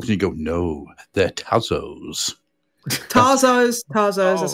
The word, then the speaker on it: Tazos: are these pogs and you go no they're tazos tazos tazos I how you pronoun them sorry no it's tazos because theyve got Tasmanian devil on them yeah